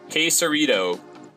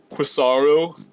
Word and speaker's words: Quesarito: But, like, there's a damn T in it, so pronounce the T. Quesarito. Even if you call it a quesarito, I'll forgive you. But when you just flat out, like, Quisaro, we had that one a lot.